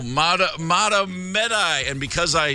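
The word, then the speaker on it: Mahtomedi: I said, "How do you say this, Matomedy?" And it was like, "No, Matomedi."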